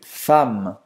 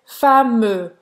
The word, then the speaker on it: femme: Você não vai pronunciar esse E. Então você não vai dizer fameux.